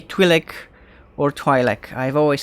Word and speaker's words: Twi'lek: opinion is divided on the matter, but I tend to pronounce it Twi'lek.